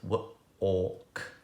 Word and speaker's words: walk: of the word walk now remember that or for neem in the middle is spelt with the grapheme al salt walk walk now this word